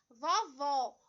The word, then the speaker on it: vovó: Então, quando a gente pronuncia a palavrinha vovó, observem que esse O, ele é pronunciado com maior intensidade. Ele traz o acento destacando a sílaba tônica e ele traz um som aberto.